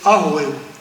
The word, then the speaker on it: Rouéo: Mais quand on prononce Rouéo, on dit c'est Arouéo.